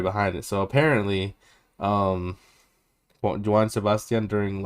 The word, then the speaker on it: Joan: it was written by Joan Sebastian how do you say it sounds like Juan but Jan whatever Sebastian